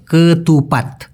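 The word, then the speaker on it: ketupat: সাধারণত খাওয়া হয় প্রথমেই ভাই এটা হলো কেতুপাত উচ্চারণটা কি হবে কেতুপাত এটার ভিতরে এক ধরনের আঠালো চাউল আঠালো তো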